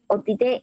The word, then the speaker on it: অতীত: রশ্মিকার আছে, রশ্মিটাই মাপতেছে যোগ আবার ইত, তাহলে এদিকে রশ্মি, অতীতে অতি এদিকে রশ্মি আর ইত এদিকে রশ্মি, তাহলে